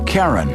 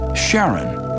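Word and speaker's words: Charon: christe suggested the name Karen after the ferryman of Pluto's underworld in Greek mythology but preferred to pronounce it Sharon more like his wife's name Charlene from the Motions of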